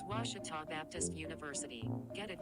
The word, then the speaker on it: Ouachita: say oh a cheetah back in texas everybody pronounces it wichita but really it's ouachita washington washington how would you pronounce it it's washita baptist university get it